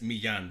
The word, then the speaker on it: Millan: Yeah, It's not- No, it's Millan. Double L.